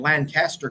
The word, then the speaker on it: Lancaster: I have to keep that straight because we've been in Lancaster, Pennsylvania, and I had to learn how to pronounce that. We have friends in Lancaster, California, and they say it Lancaster.